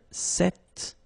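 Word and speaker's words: cet: if you listen carefully the masculine form here set and The Feminine form here set you write them differently but then you pronounce them the same way all right for the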